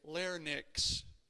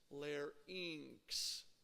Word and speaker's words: larynx: voice box or your larynx and notice that this word is pronounced just like pharynx isn't it again this is one of those words that is commonly mispronounced many many people will say larnix okay it's not larynx